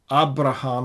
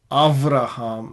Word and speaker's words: אַבְרָהָם: I think it is pretty possible that Beth without the Dagesh is pronounced like this. And so that sort of solves the problem of Abraham versus Avraham. Abraham as suggested by Trump, Avraham as suggested by Netanyahu.